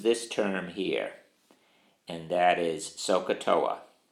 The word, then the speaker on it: SOHCAHTOA: Turnham and that is sohcahtoa and notice the way I'm gonna spell it s o h c ay h TOA and in my class